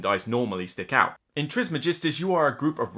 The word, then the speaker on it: Trismegistus: dicen Daniel Cassini yeah I'm pretty certain the actual pronunciation is Trismegistus but what is it